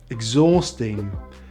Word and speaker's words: exhausting: weight and straight and we don't always say the h after ex exhilarating exhausting exhibition but we do say